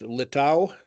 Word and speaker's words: Littau: Mike McCay uh today I am with Matt low is that the right pronunciation of your name it is it is